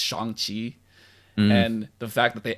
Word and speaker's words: Shang-Chi: telling katie that his name isn't sean it's shangqi and the fact that